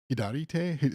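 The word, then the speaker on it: 左手: Hidarite.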